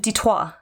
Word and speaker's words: Detroit: Yes, it is French in origin. You would pronounce it dto with much less of an accent than I have.